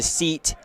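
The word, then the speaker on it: cete: a group of badgers is known as a seat a it's spelled c-e-t-e not like s-e-a-t but um so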